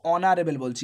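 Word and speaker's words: honourable: এখানে কনসোনেন্ট তার জন্য এখানে এ বসবে পরে অনারে বলছি এটা সাইলেন্ট ও এর দেখো তুমি উচ্চারণ পাচ্ছ তার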